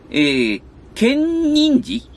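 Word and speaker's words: 建仁寺: ケンニンジって読むのこれの天井画です。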